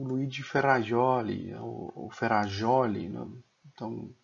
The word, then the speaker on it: Ferrajoli: é o Luigi ferroli ferrajoli né então cada um pronuncia de uma forma ferraioli né eu falo ferraioli ele tem uma obra